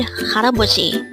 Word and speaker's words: 할아버지: And with that, you've just learned haraboji.